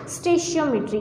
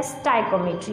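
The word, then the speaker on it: stoichiometry: स्टेशियोमेट्री की या स्टाइकोमेट्री. आप इसको दोनों तरह से प्रोनाउंस कर सकते हैं, स्टेशियोमेट्री या स्टाइकोमेट्री.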